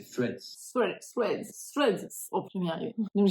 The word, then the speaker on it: Threads: Ju et au final la bonne prononciation c'est threads thread thre pr arrivé